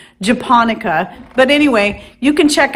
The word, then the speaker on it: japonica: pronouncing it all wrong i think i was pronouncing it japaneco when it's pronounced japonica but anyway you can check out that link